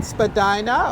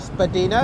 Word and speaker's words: Spadina: so we're now on Spadina or Spadina if you're wondering about the pronunciation both are correct and today's time we